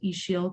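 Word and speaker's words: Ixil: a small social um slow fashion brand called ishiel collective which is spelled i-x-i-l i'm actually joining today from the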